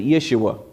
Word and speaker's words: Yeshua: comes on the scene Joshua is the same Hebrew word Jesus you pronounce it Yeshua and where Moses the